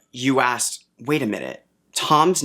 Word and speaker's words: Thom: quick before i forget i said well yeah it's spelled t-h-o-m but it's short for tom drill that doesn't make it better that doesn't make it better tom in our world is short for thomas which is also spelled with an h but we don't include it when we show tom so saying it's it's